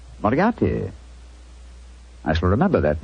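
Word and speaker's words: Moriarty: Miati. Moriati.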